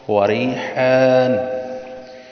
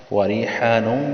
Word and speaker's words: وریحان: فروحوں، اس کو پڑھیں گے فروحوں وریحان، وریحانوں بھی پڑھ سکتے ہیں، اور اگر وقف کرنا چاہیں تو وقف بھی کر سکتے ہیں. فروحوں وریحانوں وجنت، وجنت ان پہ غنہ کیا ہے، نعیم، نعیم.